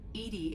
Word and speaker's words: EDI: Why are you named Edie? Edie is the phonetic pronunciation of E-D-I.